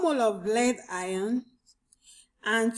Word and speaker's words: ion: 1 mole of lead ion and 2 moles, okay, 2 moles of bromide ions. There's nothing like aeon. I severally hear some people call aeon. I don't think that's the correct pronunciation.